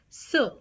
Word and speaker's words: ce: So the first one is, if the noun is masculine singular, then you put ce, ce, pronounced as sir, sir.